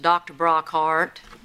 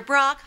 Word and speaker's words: Brockhart: Welcome to the dental office of Dr. Brockhart. More welcoming. 2 syllables in heart. Sing it with me. Dr. Brockhart. You see, it goes up and then down.